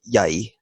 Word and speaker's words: jag: just like in Swedish, instead of saying jag, they say ja or I, jai, and pretty much the